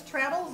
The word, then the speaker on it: Traddles: My name is Traddles. It rhymes with battles, and that's what you'll get if you don't hand in your homework.